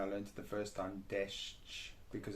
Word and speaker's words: deszcz: Like De, sz, sz, sz, ch, deszcz, deszcz, ch, deszcz. deszcz. This one is very tricky because it has sh and ch next to each other, which In English we never do that.